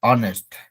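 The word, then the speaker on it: honest: बोलेंगे एच ओ एन ई एस टी ऑनेस्ट ऑनेस्ट बहुत सारा वर्ड होता है जहां पर हम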